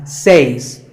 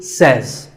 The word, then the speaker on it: says: This word is commonly mispronounced by people learning English as says. But remember, I say, you say, but he or she says.